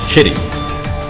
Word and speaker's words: Kittim: Kittim is properly pronounced Kitty, but it is transliterated as Kittim, spelled with a K and also spelled with a CH.